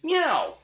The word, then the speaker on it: meow: Meow! Meow, meow, meow. Remember to stress the first meow and say the following ones quickly.